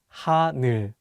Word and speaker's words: 하늘: Many people mispronounce the last syllable as 눌, so be careful. Let's say the word 하늘.